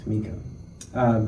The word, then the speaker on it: Tamekiah: Tamekiah.